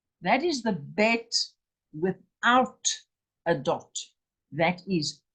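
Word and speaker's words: בית: Bet, with a dot inside, is the hard sound. That's the B. That's a ball, or B, and its value is 2. But without the dot, the B, the bet, is a V, a V, a V, as in vine.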